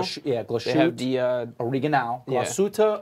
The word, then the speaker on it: Glashütte: Glashütte Original that we found out that's the way to pronounce that.